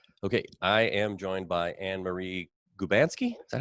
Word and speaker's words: Annmarie Gubanski: Okay, I am joined by Annmarie Gubanski. Is that how you pronounce it?